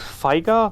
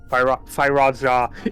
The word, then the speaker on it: Firaja: he does is using, how's the spell called in English? Faiga? No. Firaja? Firaja. In German it's Foika, so KA in the end, so I was confused for a second there.